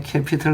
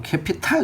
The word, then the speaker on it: 캐피털: 그 그 다음에 캐피털 나오고요. 그 우리 보면 보통 캐피털 할 때 이게 뭐 캐피탈 이렇게 발음되는 경우가 좀 있잖아요. 그렇지? 그래서 어와 아로 갔을 때는 어로 가는 사례가 좀 훨씬 많다는 거, 그런 것도 이제 한번 확인을 좀 해두시고, 그렇죠?